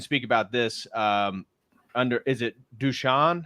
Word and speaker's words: Dušan: Is it Dushan? How do you pronounce it? Yeah, Dushan. Dushan.